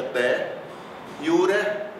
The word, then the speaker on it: de iure: Vejam que eu digo de iure, eu faço a sílaba forte em iu, mas eu pronuncio o R.